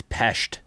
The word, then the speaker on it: Pest: It's Pest, right? Yeah, you're right. I actually have been mispronouncing it the whole time.